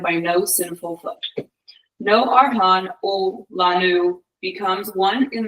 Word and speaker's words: Arhan: Our hands, am I pronouncing that correctly? Arhan.